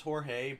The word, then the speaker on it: Jorge: a friend named George spelt jo our GE that's typically pronounced Jorge but to each their